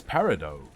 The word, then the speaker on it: peridot: and gay thank you I believe it's Peridot right I I've always said it with the silent T I don't remember if that's because someone told me or if I guessed but I'm pretty sure it's peridot and not provided even their cages are